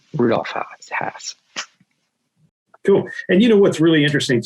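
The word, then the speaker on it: Hass: And unfortunately, yeah, it is Haas. It rhymes with past, or other things that I probably shouldn't say on a webinar.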